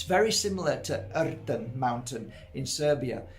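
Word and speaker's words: Rtanj: And when I got to the top of Erten mountain, I have to say it like that because that's how you say it.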